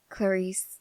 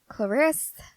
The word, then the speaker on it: Clarisse: yeah that's me um it's actually pronounced Clarice though yeah my parents decided